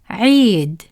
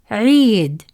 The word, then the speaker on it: عيد: The ya stretches the sound of عي longer, like a smile but held longer. Repeat after me. عي, عيد, عي, عيد.